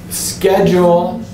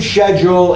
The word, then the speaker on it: schedule: where you live kitchen schedule but the English pronunciation is scheduled you'll hear it both ways especially if you go